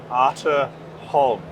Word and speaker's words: Arthur Holm: So if I were to go back to Australia and pronounce your company name correctly, I would pronounce it Arthur Holm. That would be spot on.